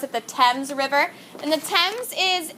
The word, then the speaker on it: Thames: It's actually, we pronounce that the Thames River. Okay, we pronounce it the Thames River.